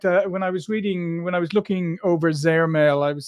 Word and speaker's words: Zehrmail: And what we're going to talk today is more about the Zehrmail, if that's the correct pronunciation, is it?